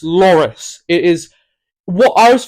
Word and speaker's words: Loris: got his name wrong it's not Lori it's Loris it is what I